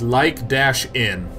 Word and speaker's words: lichen: And everyone's like, I haven't been typing all day, but it's pronounced like-in.